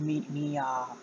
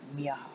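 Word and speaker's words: Miach: I would have pronounced it Mia with the CH, but they, in the anime, they pronounce it Miaha, so. Like Miaha.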